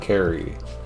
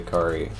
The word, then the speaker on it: Carrie: His name is pronounced Carrie and I always say Krie.